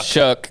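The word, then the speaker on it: Shough: How do you say Shuck? Yeah. How do you get that out of that name? I don't know. But it's how it's pronounced.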